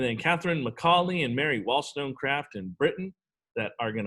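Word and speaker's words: Wollstonecraft: of the three and she's got three syllables in her last name so naturally wall stone craft uh she was a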